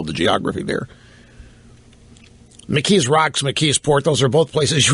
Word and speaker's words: McKeesport: My first job outside of town was at McKeesport. I was a little, or as the natives call it, it's a very Polish community. They call it Mekisport because they couldn't pronounce McKeesport. Mekisport.